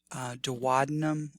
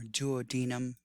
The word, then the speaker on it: duodenum: small intestine called the duodenum or duodenum depending on who's pronouncing it so in this lecture